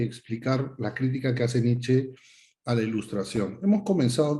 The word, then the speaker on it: Nietzsche: mira directamente, Friedrich Nietzsche, o sea, así se pronuncia el nombre realmente de Nietzsche, pero no me van a escuchar diciendo Nietzsche todo el rato. Ya ustedes saben que se pronuncia Nietzsche, con eso basta, ¿no?